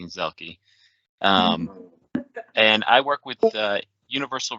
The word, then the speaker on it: Zielke: I'm Zielke, pronounced correctly, Zielke.